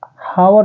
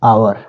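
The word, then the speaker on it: hour: पहले वर्ड में देखिए यहां पर हावर नहीं है बेटा यह है आवर आवर है और और में एच है साइलेंट अगर एच ओ यू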